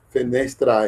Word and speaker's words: fenestra: No latim clássico parece que fenestra é. Esse A é pronunciado.